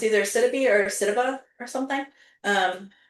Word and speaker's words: Sidibe: But our star is Gabori Sidibe. Sidibe? It's Sidibe. Um, Yeah, I don't so know. it's either Sidibe or Sidiba or something.